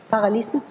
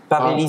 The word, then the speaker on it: paralysie: Paralysme. Paralysie.